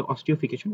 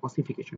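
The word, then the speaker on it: ossification: অসিফিকেশন যদিও মনে হতে পারে যে আমাদের এটা অবচিত ছিল অস্টিওফিকেশন বাট এটাকে আমরা বলি হচ্ছে অসিফিকেশন কি বলি? অসিফিকেশন। কি বলা হয় এটাকে? বাংলাতে অসিফিকেশন। মানে এটাকে প্রোনাউন্স করা হয় কিভাবে? অসিফিকেশন হিসেবে।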